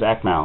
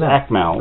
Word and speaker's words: Akmal: How could you pronounce UAKMAL? His name's Akmal. UAKMAL. Well, you call it just Mal, do you? It's Akmal.